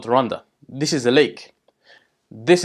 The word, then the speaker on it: Rwanda: Rwanda, which is pronounced as Rwanda, is officially known as Republique y'u Rwanda, the Republic of Rwanda.